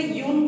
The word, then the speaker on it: Jung: इनका नाम JUNG spelling होता है, बट हम लोग इसे यून पढ़ते हैं।